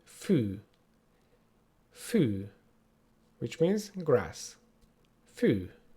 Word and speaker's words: fű: And the long version of this is the long U. U. And our word for today will be fű.